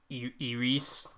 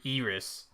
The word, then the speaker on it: Eris: oh the Greek pronunciation is like what I was saying where it's Eris yeah it's not pronounced it's Iris it's like they mixed the two so yeah they still